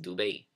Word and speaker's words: Dubai: so notice how it's not divided it's actually pronounced Dube you have fujairah sharjah boom al quwain and